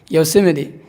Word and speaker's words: Yosemite: Yosemite.